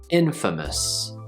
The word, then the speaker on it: infamous: First syllable in, second syllable fa, last syllable mus, like at the end of Christmas. Sort of like us, but lazier. Infamous, infamous.